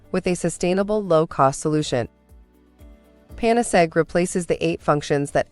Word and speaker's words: Panacegg: remedy for all difficulties we combine this with the word egg and so it is pronounced panasek and so what is